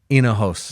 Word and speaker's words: Enohost: Enohost. There we go. Yeah. I did That's the best one yet. Come on. Yes. Best one yet. Yes. The H is silent.